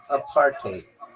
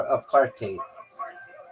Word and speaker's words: apartheid: It's pronounced a partate or a partate with a bit of a Dutch style hide at the end like height with a D.